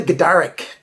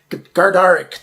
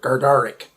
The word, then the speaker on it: Gardarik: we're looking at the gadaric gardaric today it's one of those words i just always say wrong i forget to pronounce the first r gardaric it comes in two